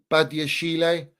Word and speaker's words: Badiashile: And I thought Badashil, how do we even say his name, man? I don't even know how to pronounce his name. Badiashile, yeah.